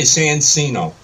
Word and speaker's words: Sancino: You can't, or you can say Sancino. Sancino, okay. Yeah, I would say Chino, because it looks like it's Italian.